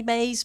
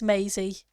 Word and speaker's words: Maisie: why they would say maze but yeah I can see it's Maisie all right sir if